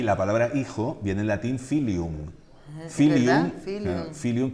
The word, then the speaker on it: hijo: Actualmente es una H muda que no se pronuncia, pero que viene de la F. Fíjate que sí de la F inicial latina, por ejemplo. Y la palabra hijo viene en latín filium.